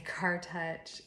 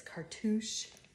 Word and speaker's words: cartouche: It's this, I say Car Touch, Coach Car Touch, but somebody said it's cartouche. Saying it wrong, obviously.